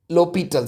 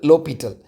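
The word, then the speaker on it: L'Hôpital: Lital sorry not liital. Lital rule you can say like that this is silent.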